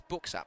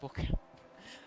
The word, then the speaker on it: Booksap: Is Booksap, not Book. Okay, Booksap.